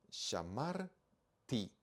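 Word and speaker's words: שָׁמַרְתִּי: tav y hir y y se pronuncia Yo guardé shamar ti okay shamar por qué sharti porque acá tengo yo un acento vamos con la tercera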